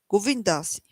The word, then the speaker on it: Govinda Dasi: Don't cross over, go back around like this 16 times, and your name will be Govinda Dasi. He pronounces it Govindasi.